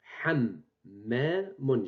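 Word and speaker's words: حَمَّام: J'ai prononcé double. Donc, on écrit hammamun. Hammamun. Donc, main, on l'écrit une seule fois. On lui ajoute shed pour dire qu'elle est accentuée. Elle est prononcée double. Donc, voici la transcription. Hammamun. Hammamun. Donc, l'orthographe correcte, c'est celle-ci à gauche, hammamun. La prononciation correcte, c'est celle-ci à droite, hammamun.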